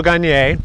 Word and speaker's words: Gagner: So my name's Gagner. That's spelled Gagner. It's French.